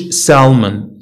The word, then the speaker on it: salmon: اوكي تنقولوش salmon اوكي salmon.